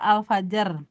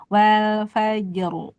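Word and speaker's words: الفجر: kayak alfajr fajr jimnya ee tipis dan qalqalah rnya tebal jadi jim ee ditarik ya faj gitu kan nih faj kayak senyum ya karena tipis tapi rnya tebal tuh wal fajru fajru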